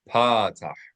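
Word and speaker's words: פתח: So the line underneath a letter, a flat line, is called patah. Accent the first syllable. Patah.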